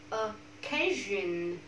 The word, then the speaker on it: occasion: Occasion. Occasion. Không phải là occasion. Occasion.